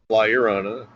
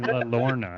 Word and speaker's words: La Llorona: I was saying La Lorna, and we even made like a couple of plugs for the shop for the show, and I was pronouncing it La Lorna.